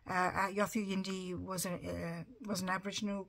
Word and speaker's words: Yothu Yindi: a a band called yatra yundi or yathu hindu depending on how you want to pronounce it yathu yindi was a was an